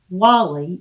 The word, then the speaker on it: Guale: During the 16th and 17th centuries, Sapelo Island was part of the Wally Missionary Province of Spanish Florida. We covered this in depth with our tidbit on St. Catherine's Island. Wally is spelled Guale.